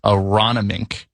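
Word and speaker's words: Aronimink: It's at and I've had to look up how to pronounce it several times. Aronomink.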